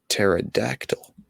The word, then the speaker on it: pterodactyl: can't you hear a pterodactyl using the bathroom i'll give you ten seconds for it ten nine eight seven six five four three two one it's because the p is silent is this what my